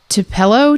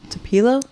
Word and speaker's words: Tupelo: Uh he was born in uh I don't know exactly how to pronounce it so please don't come for me if you live here. Uh Tupelo Ti Tupilo Mississippi. Tupilo. Tupelo t u p e l o.